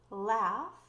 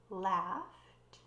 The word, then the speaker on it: laugh: Laugh, laughed. Remember, the GH sound is f, similar to an F sound.